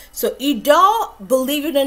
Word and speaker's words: Idole: was constantly pronouncing an eye doll and somebody told me no it's a french word it's actually pronounced pronounced idol so idol believe it or not